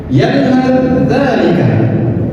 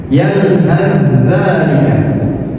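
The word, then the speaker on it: يَلْهَثْ ذَٰلِكَ: Yalhad dzalika sama fa sukun bertemu dengan zal. Cara membacanya adalah dengan diidghamkan. Seakan-akan fa ini tidak ada, jadi langsung ditasydidkan. Yalhad dzalika.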